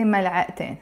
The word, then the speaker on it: ملعقتين: But in this case, because the word has a T مربوطة, ملعقة, it has a T مربوطة, but I don't pronounce it. But when I add the in, I will have to pronounce it. I say ملعقتين.